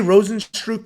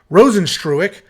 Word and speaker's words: Rozenstruik: have jarzinho Rosen stroke I say rosenstrupe but he just tweeted exactly how to pronounce it I think it's trueick yeah rosenstruick taking on jalton Almeida